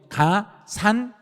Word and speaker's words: 가산세: 추가로 뭘 더 물려버리고 발음 정확해요. 가산세. 발음 끝에 흐리면 큰일 나요. 왜냐하면 그 가산세하고 가산금의 차이를 시험에서 물어봐 버리거든요. 그러니까 그냥 가산 해버리면 시험에서는 바로 틀려버린 거예요. 가산세를 물려버린 거예요.